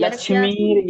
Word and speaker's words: लक्ष्मीर्: आप हाँ आप लक्ष्मी यस्य नहीं, लक्ष्मीर। आप य पे अगर देखें तो र की एक मात्रा है, जिसको हम हाँ लक्ष्मीर वो जी। इस तरह पे लक्ष्मीर यस्य च वक्षसि।